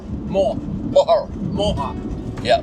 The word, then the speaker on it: Moher: How is it pronounced? Mohar. Mo. Moher. Moher. Yeah. Moher.